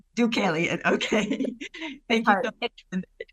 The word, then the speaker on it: Deucalion: Deucalion. Deucalion. Okay. Thank you so much. It's a name from Greek mythology, so I know it's a little bit hard to pronounce.